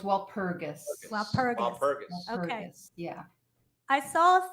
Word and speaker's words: Walpurgis: well purchased from um am i saying it wrong while pergus or robert the g is actually hard so it's walpurgis okay yeah i saw